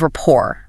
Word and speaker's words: rapport: When you find common ground, you achieve rapport. Let's spell rapport because it's a really tricky word for learners. R A P P O R T. The T is silent.